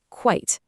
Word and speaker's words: quite: Let's say this one out loud too. Quite. You hear that? It's one single sharp syllable. Now let's compare them. Quiet versus quite.